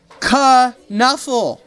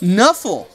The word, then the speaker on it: Knuffle: Kuh-Nuffle! Kuh-Nuffle! And Sonia says, Knuffle! Knuffle! So it is Kuh-Nuffle Bunny?